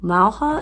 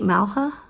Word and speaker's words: Mauja: this one is called malha m a u j a is that right malha I know in Spanish the J is pronounced like an H right I'm so sorry